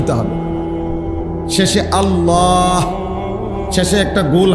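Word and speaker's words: الله: এজন্য এটা খেয়াল করা হা পুরা স্পষ্ট বিশুদ্ধ উচ্চারণ হইতে হবে শেষে আল্লাহ শেষে একটা গোল হা আছে ছোট হা আল্লাহ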